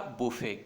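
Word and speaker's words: buffet: यहाँ पे टी का साउंड नहीं है। क्या प्रोनाउंसिएशन है इसका? बुफे।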